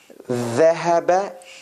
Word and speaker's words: ذهب: Look again, I'll say ذهب, little bit out.